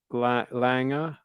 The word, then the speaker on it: Lange: the O2 oh interesting uh it's pronounced langa langa langa anyway I don't give a